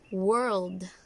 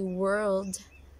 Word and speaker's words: world: You might say world, right? You say world. It's not actually world just because it has an O. It should be world, like world.